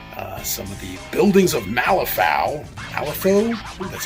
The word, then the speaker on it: Malifaux: Some of the buildings of Malifaux, that's how you pronounce it, to be building all this.